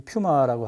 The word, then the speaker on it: 퓨마: 여기는 칠레 그 산티아고 그 도심지의 퓨마, 이제 퓨마라고 하죠. 이제 우리말에 그 퓨마 그 브랜드도 있고, 근데 어떤 사람은 푸마라 그래요. 푸마 발음상.